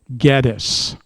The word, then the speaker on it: Gettys: Every descendant I've spoken with that is related to Samuel and James pronounces it Gettys.